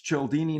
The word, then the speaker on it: Cialdini: It used to be all forms of what it is. It's Cialdini now, and most people seem to be able to articulate it right off the bat.